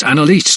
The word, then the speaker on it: Anelise: Miss Anelise Kent, sir," he said, emphasizing the last syllable in Anelise.